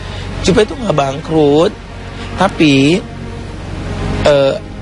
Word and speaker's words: Jupe: banget dengarnya yang aduh ngomong Jupe bangkrut ini bacanya Jupe itu enggak bangkrut tapi